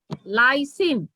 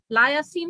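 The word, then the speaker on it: lysine: Clearly বলতে হবে লাইসিন। লিউসিন হলে আরেক জিনিস হয়ে যাবে, লায়াসিন হলে হ্যাঁ অন্য কিছু হয়ে যাবে, ঠিক আছে।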